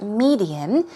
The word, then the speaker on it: median: median here we go stress goes on the first syllable its median and we're talking about